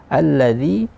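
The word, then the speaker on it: الَّذِي: Alladzi juga sering terjadi kesalahan di pengucapan zal, yaitu zi ini dimasukkan ke hidung. Jadi alladzi dimasukkan bunyinya ke hidung, padahal dia tidak berbunyi di hidung. Kemudian yang betul bagaimana? Alladzi.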